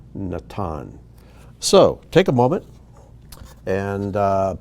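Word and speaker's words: נתן: first one here is natan nathan and in the bible in our english translations it's pronounced nathan but in hebrew natan so take a moment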